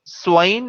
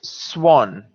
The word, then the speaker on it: swan: will get pronounced as swain so swine is completely incorrect i think you've forgotten your oki matra okay so it's swan next one measure uh